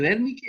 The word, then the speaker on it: Wernicke: pronunciar, la W la vamos a pronunciar como una V nomás, así como Ya, sí, una E, Wernicke, una ya. V tirando para F, así, Wernicke, así como fuerte.